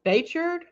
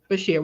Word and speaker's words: Bichir: Damian Bichir, from the Nun.